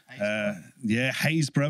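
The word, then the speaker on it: Happisburgh: I come from Norfolk, where we've got Cossey, which is spelled Costesi, Posick, which is spelled Postwick, Haysborough, which is spelled Happersburg, Hell, which is spelled Lowestoft. Hell.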